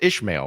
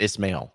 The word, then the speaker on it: Ismail: see that in in it's pronounced ishmail right or is it Ismail is not an not an H we've determined but we'll find out